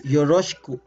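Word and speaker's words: よろしく: the word so it's but if you're gonna pronounce it or say it it's yoroshiku okay so the uh vowel e is the voiced in this example okay again it's hiroshiku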